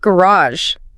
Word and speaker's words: garage: Let's take garage. Good one. American English commonly stresses the second syllable. R-U-Z-R-H. Right. British English often stresses the first.